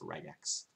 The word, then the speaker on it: regex: okay snf regex regex i'm trying to say regex because i was wrong apparently it's pronounced regex cheers to whoever mentioned